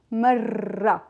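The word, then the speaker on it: مرّة: You could pronounce it on the side of your tongue, not in the middle.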